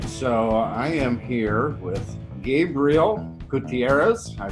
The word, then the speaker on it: Gabriel Gutierrez: sleeveless edition alright so I am here with Gabriel Gutierrez I pronounced that correctly been my game you did